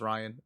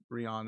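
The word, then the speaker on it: Ryon: to rescue Rion Ryan I think it's actually pronounced Ryan there's Rion is the way my brain wants to pronounce it because of how it's spelled how am I alive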